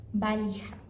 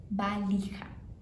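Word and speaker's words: valija: Tem milhões de jeitos em outros espanhóis de como fala mala, porém no espanhol argentino eles sempre falam, unicamente falam balra. Balha. que é com V, mas se pronuncia com B,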